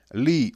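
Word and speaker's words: לִי: Temos aqui li, o iod é defectivo, você acaba pronunciando o hirik.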